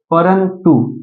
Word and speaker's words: परंतु: ये क्या हो जाएगा परंतु ये त का पांचवा अक्षर न है ना इसलिए ये देखो भले म छुपा है लेकिन इसका उच्चारण न के रूप में हो रहा है परंतु पांचवा अक्षर हो